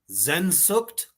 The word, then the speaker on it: Sehnsucht: How do I pronounce it, Reaper? I don't want to butcher it. Sehnsucht?